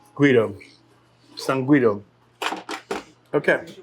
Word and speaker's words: Guido: So in Italy, it's said as Guido. Guido.